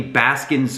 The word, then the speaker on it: Baskins: for me was definitely baskins creek falls i mispronounced it on the video it's baskins with an s at the end one reason i really